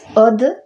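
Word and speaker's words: עוד: Donc ça se prononce oud, mais si le vav on le prononce o, eh bien od ça veut dire encore.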